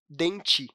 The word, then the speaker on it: dente: A mesma coisa com "dente": a gente coloca "E" no final na hora de escrever, mas é normal pronunciarmos "denti".